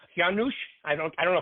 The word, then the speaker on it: Juhasz: So if you forgot about the J and cover the Z.